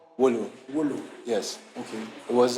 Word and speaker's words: Wolo: And at the time, I wasn't in school, so I had to be on an online platform called Wolo, where Called Wolo.